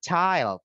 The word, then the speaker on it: child: Coba coba sekali lagi kalau bilang anak ya anak ke berapa itu bilangnya bukan chill tapi child.